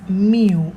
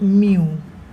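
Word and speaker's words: μ: a you you know it is pronounced as mu like a cat meow that mu once again I'll write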